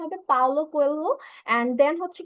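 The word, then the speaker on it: Paulo Coelho: বাট হচ্ছে গিয়ে স্যার, রাইটারের নাম হচ্ছে স্যার পাউলো কোয়েলহো। ওকে, সো আমরা হচ্ছে কি এটা উচ্চারণ হবে পাওলো কোয়েলহো।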